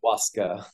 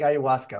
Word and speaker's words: ayahuasca: Is it pronounced ayahuasca or ayahuasca? I would never get it. It's sometimes pronounced either way, but most commonly ayahuasca.